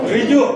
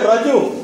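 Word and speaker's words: ঋজু: রিজু, রিজু, রিজু। হ্যাঁ, কেউ কেউ বলবে রাজু, কেউ কেউ বলবে রুজু, আমরা বলবো রিজু।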